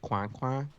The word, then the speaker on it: Coin: Coin, Bruno Dumont. It gets pronounced Quan.